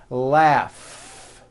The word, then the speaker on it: laughs: strong our freedom laughs notice the gh combination in that word laughs telephone notice the pH